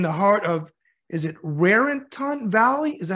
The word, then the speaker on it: Raritan: City located in the heart of is it Raritan Valley is that how you say it it is it's Raritan Valley um it's in the middle of Edison